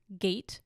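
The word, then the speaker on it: gait: wide like i never heard of the word gate before like not gate as in like open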